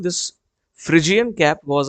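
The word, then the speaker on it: Phrygian: इसे रेड फ्रिजियन कैप कहते हैं, फ्रिजियन इसका प्रोनाउंसिएशन है।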